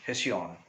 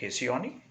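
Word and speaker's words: Hesione: name was kesioni right some even pronounce the name hessian right so what the pronunciations will take right it depends on region to uh region to pronounce so some pronounce it hesioni right some pronounce it hishyon right so she was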